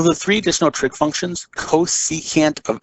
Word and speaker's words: cosecant: The first one is abbreviated CSC, and this means cosecant. And the way that we pronounce this is cosecant.